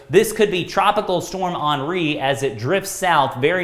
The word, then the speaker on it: Henri: name is actually pronounced on re it's a french name and that's spelled like henry but it's actually pronounced on re and so this could be tropical storm henri as it drifts south